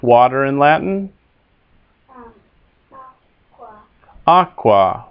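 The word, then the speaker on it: aquā: in Latin um Aqua Aqua with a long a at the the end for the ablative Aqua stories as the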